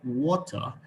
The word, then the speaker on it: water: Now, the British people do not pronounce their R. They just drop it off.